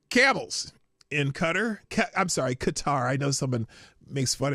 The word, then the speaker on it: Qatar: It's Qatar for those who want me to pronounce it correctly. Anyway, yeah. Uh from the motorcade, a a a honor guard of camel jockeyies. So there you go. Beautiful from Qatar. I've been saying cutter forever just because I made that joke one time.